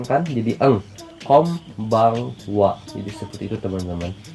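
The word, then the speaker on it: こんばんは: Ketika dia rata-rata dibilangnya eng, kecuali n ketemu p sama b itu jadi m, kayak kombangwa bukan jadi kongbangwa ya. Yang pertama kom, yang keduanya baeng, nah n kan jadi eng, kombangwa.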